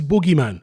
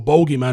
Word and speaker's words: bogeyman: That was his boogeyman, as Americans say, or bogeyman, as we say in the UK.